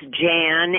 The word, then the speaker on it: Jan: So it's Jan, and it's with a David.